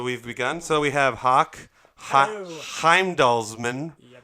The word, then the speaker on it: Hauk Heimdallsman: yeah no so we've begun so we have hawk Heimdall's Minh right as a house that's how you pronounce it is that your is that your